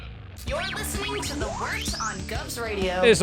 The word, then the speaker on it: Wort: Not wart, not fort, not short.